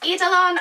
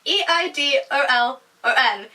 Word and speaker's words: Eidolon: So the first book that I read in October was Eidolon. I think that's how you say it. It's E-I-D-O-L-O-N. Eidolon. That's how I've been pronouncing it anyway.